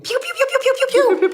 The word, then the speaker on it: Pugh: it's be honest finally it's Hugh but with a p be honest finally all right it's Pudge we'll be back we're back how old was Florence Pew in Little Women how